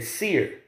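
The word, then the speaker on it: Seir: esau the word in the hebrews pronounced sha i yar or how they would say seer you know what i'm saying like mount seer okay that's what seer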